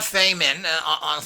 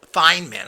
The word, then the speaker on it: Feynman: But what's interesting about Feyman, often called Feynman, I'm not sure why, but Fey, it's Feynman.